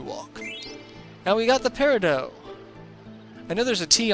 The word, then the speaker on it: peridot: now we got the peridot I know there's a tea on the end of it but the T is silent that's one of the